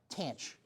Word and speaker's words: tanh: Jake Nick, do you know how they they call it tanch? Yeah, tanch.